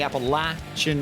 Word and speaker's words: Appalachian: Martinsville, Virginia in the Appalachian Mountains. And it is a short A for those who might not necessarily be so grammatically inclined.